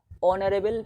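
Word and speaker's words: honourable: আমরা উচ্চারণ করবো অনারেবল পারসন, অনারেবল, এই আছে বাট আমরা উচ্চারণটা কী করছি? ও এর মতো করছি, ওই এইচ কনসোনেন্টের উচ্চারণ আমরা ভাওয়েল ও এর মতো পাচ্ছি, তাই আমরা কী লিখবো এর আগে এন লিখবো।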